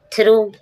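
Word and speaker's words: through: थ्रू, थ्रू means बीच से। हमने देखा GH, कुछ रूल्स वो GH वाले हैं, हमने पहले देख लिए थे। GH साइलेंट है इसमें।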